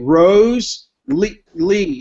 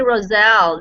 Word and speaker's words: Roselle: We're going to congratulate Rose Lee. Is that how you say it, Rosette? It's actually Roselle. That's her name.